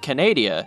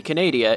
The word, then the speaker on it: Canadia: Paleozoic Canadia is simply just Canada with Ia at the end, another short one that most folk will just look over.